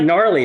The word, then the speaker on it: gnarly: I know how it's spelled, but it's pronounced. Insert Google Translation It's like gnarly.